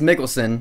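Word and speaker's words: Mikkelsen: got mads mikkelson yes I learned how to pronounce his last name mads Mickelson as cilus the villain in this film you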